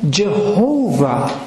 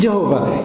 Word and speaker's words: Jehovah: Some have made like Jehovah, but that's an artificial form that's based on the way the Jews read Adonai. They use the same vowels to pronounce Jehovah that way.